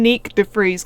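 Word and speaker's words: Nyck de Vries: used to calling him Nick def freze because obviously that's the Dutch pronunciation and he's Dutch so I just pronounced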